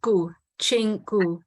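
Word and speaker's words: Gu Qing: us today could I just double check I'm pronouncing your last name correctly how was it said it's uh go Ching excellent thanks very much so as we mentioned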